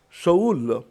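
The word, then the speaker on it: שאול: peuple le nom Saül du mot Hébreux prononcé Shaoul signifie demander ou désireer lorsque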